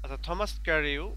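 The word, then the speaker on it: Thomas Carew: না এরপর আছে থমাস প্রো আচ্ছা এটার সঠিক উচ্চারণ কি হবে এই দেখ এখানে আছে হচ্ছে আমাদের গু ট্রান্সলেটরের ব্যবহার আচ্ছা ক্যারিও থমাস ক্যারিও another name of দিস group is known for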